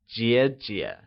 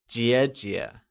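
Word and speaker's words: 姐姐: sister is translated as Jia Jia and is pronounced using the falling rising tone can you try and say Jia Jia good younger sister translates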